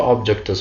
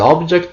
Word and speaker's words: object: different let object here there is one pronunciation change let's see them one by one please don't throw objects from the bridge the object of the sentence comes